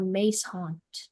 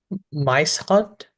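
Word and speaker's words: muishond: Is there any alternate pronunciations? Mice haunt or mace haunt?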